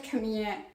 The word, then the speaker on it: Camille: I keep saying Camila because I live in France and that's how you would pronounce this name, but I think in English it should be Camille and I have been saying Camila all throughout all of my Camille Rose videos.